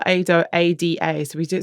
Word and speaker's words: Aida: So I think it's actually pronounced Aida, which is a opera. It's set on the banks of the Nile.